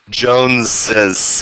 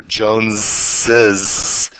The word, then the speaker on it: Joneses: second S, as in Joneses. You hear there's two different S's, S sounds going on in there, Joneses.